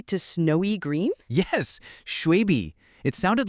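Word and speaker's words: 雪碧: And they actually translated it phonetically to snowy green? Yes, shuibi.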